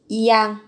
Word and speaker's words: 약: Phát âm là thành yang. Không phải là yak mà là 너 오늘 약 yang.